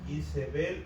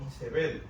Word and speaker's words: Isebel: Según la concordancia Strong, en hebreo la pronunciación correcta es Isebel o Isebel. O sea, que el en